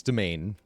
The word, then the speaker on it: Demesne: Am I the only streamer that pronounces Demesne correctly? Yeah, it's domain. Like a web domain, but for skeletons.